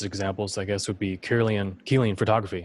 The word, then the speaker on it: Kirlian: Yeah, for example, one of the earliest, one of the coolest examples, I guess, would be Kirlian photography. It's pronounced Kirlian, but it's spelled Kirlian, Kirlian photography.